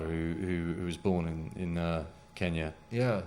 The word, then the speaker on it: Kenya: was born in in Kenya yeah they call it keenya back then I think is Kenyatta changed the pronunciation to sound like his name or something right and but anyway no